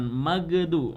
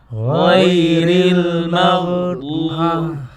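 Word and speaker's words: غير المغضوب: Ghairil maghdubi 'alaihim waladdallin. Ayo coba. Ghairil maghdubi 'alaihim waladdallin. Nah, ini masalahnya di magnya tadi. Ghairil mag, jangan magdu.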